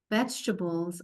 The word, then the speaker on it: vegetables: V, E, G, an E that we don't hear. T, A, B, L, E, S, vegetables.